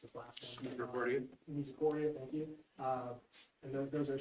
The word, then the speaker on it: Misericordia: I'm sorry, I don't know how to pronounce this last one. Misericordia, thank you.